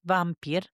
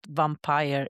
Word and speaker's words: vampir: Linguistic and ethnographic sources explain that vampir, and that's not vampire in the wrong pronunciation, but is the Slavic word vampir emerged as a replacement